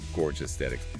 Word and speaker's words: Gorgesthetic: Gorge athetics yeah but it's pronounced like Gorge Aesthetics Gorge as in gorgeous get yeah I see